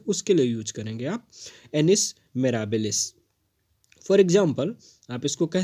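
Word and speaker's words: annus mirabilis: एक बार प्रोनाउंसिएशन को ध्यान से देखेंगे, इसका प्रोनाउंसिएशन है एनिस मेराबिलिस।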